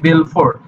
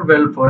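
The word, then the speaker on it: Balfour: নাম ছিল হচ্ছে আর্থার ভেলফর ইংরেজিতে যার উচ্চারণ এ আর টি টি এইচ ইউ R Arthur ভেলফর বি এল এফ ও ইউ এফ ও ইউ আর ভেলফোর উনার নাম ছিল বেলফোর তো উনার উনি যে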